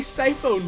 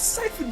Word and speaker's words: Siphon Filter: Did you say Psy-Phone Filter? Yes. It's Siphon Filter. Yeah, it is Siphon Filter.